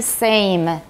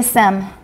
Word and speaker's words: same: the list too everybody same let's please fix that that goes with name which we've practiced same and don't say sem everyone's same uh-huh and